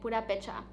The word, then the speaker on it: Purépecha: My ancestors are they are Purépecha, which is, I believe, how you say it, Purépecha.